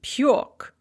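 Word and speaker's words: пёк: becomes lyouk spelled lyog piece to bake becomes pyork spelled with a car just like it's pronounced and then in the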